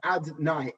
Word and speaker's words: Adonai: That level of Yud Kei Vav Kei, right now we do not pronounce that name as it is written. Instead, we pronounce it as Adonai, Aleph Dalad Nun Yud.